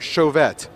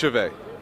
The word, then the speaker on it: Chauvet: I can remember is a pronounced Chauvet or show vet it's pronounced chivay it's brown survey do